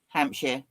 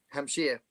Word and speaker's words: Hampshire: Hampshire. Hampshire.